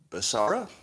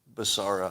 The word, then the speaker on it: Becerra: HHS head Xavier Becerra, or is the C hard? Is it a hard C, Becerra, or is it's Becerra? Somebody tell me the pronunciation of that. Becerra or Becerra? Anybody? All right, somebody will tell me. Becerra, I'm hearing. Seems right. I'm going to go with Becerra.